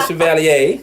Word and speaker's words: Chevalier: Chevalier. Hey, y'all know I mess up every time. You gotta say it like you're in New Orleans. Oh, the Chevalier.